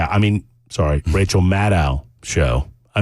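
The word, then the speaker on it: Maddow: the Rachel mad C I mean sorry Rachel madow show I mispronounced it earlier my bad and uh and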